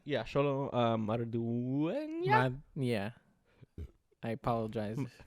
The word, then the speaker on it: Xolo Maridueña: Yeah, Xolo Maridueña. Yeah. I apologize. Xolo Maridueña.